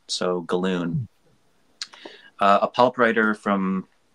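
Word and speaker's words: Gallun: Z galloon speak pronunciations I believe it's pronounced as balloon so galloon uh a pulp writer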